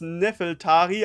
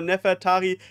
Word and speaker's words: Nefertari: Namen Nefertari ich weiß ich sage immer noch öfters nefeltari aber Nefertari ist hier die richtige Aussprache von Oda gewählt in